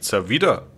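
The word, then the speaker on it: Zaveid: Da habe ich die ganze Zeit falsch ausgesprochen mit Zawid, wenn es eigentlich Zawida heißt.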